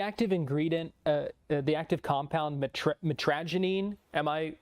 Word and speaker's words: mitragynine: The active ingredient the active compound mitragynine, am I pronouncing that correctly?